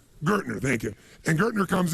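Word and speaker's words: Gerstner: And they brought in, what, I don't know how to pronounce his name, it was Gestetner, the gentleman who came in, who was like the major turnaround guy. What's his name? Gertner, thank you.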